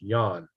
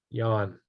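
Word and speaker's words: Jan: astronomer John ort j-a-n is pronounced yawn in the Dutch tongue yawn all right uh let's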